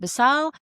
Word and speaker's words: Beusail: were either showing up in a state of basal or a state of basuk. Ironically, basal is spelled b you u and sail and the opposite which is basuk is spelled be you and suck. But what basile means is ethical moral of good intent whilst